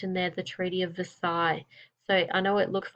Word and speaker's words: Versailles: there the Treaty of Versailles so I know it looks like it says the sale is or something like that it's a French word Versailles the elves and the